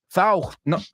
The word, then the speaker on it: thought: Thought. Acuérdate esta. Caught, bought, thought, taught, sought, buscado. So if you can make that ought sound, tienes el A-U-G-H-T y el O-U-G-H-T dominadísimo.